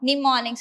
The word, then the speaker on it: mnemonics: that as a mnemonics so m will be silent here it will be pronounced as what mnemonics that will going to